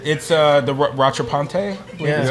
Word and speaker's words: Rattrapante: It's the Rattrapante. I believe Yeah. is how you pronounce it.